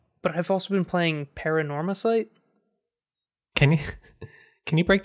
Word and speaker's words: Paranormasight: I've also been playing paranorma site can you can you break that out for me phonetically okay paranorma probably paranormal ghosts stuff okay drop the L yeah out of sight add sight which what I'm guessing